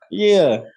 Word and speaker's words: Donnelly: Irish. Donnelly. Say it like Donnelly.